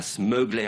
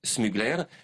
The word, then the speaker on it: Smuggler: la marque c'est smugler alors vous ne prononcez pas smugler à l'américaine non c'est smugler et la grande particularité